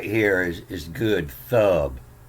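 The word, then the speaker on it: טוב: So the reason this was called the good book is right here, is good, thub or thuv. Sometimes they pronounce this B with a V.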